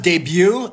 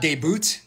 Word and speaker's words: debut: sorry I sometimes disappear it's pronounced debut and not debut I'm so excited for